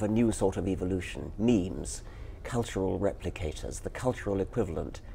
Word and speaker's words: meme: So I called it a meme. So it doesn't exactly rhyme with gene, but it's sort of short and sounds vaguely similar.